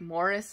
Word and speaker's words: Maurice: them and because morris or maurice because like morris is the uk like british way to pronounce it i guess morris was published posthumously